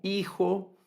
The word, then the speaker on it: hijo: Es decir, está como palabras como hilo, como hijo, como hubo, palabras que se deben escribir con una H, pero que la H, cuando la hablamos esa palabra, la pronunciamos, no suena, hilo.